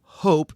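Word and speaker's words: hóp: But as we learned in the last bonus episode, the word hope, spelled H-O-P with an accent on the O, refers specifically to tidal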